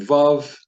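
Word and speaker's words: וָו: As the placard reads, Vav is pronounced like the V as in vow, or the word van in English.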